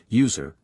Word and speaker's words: USR: often thirdparty applications/ USR pronounced user but stands for Unix system resources contains executables libraries documentation and source code for most system utilities and user applications.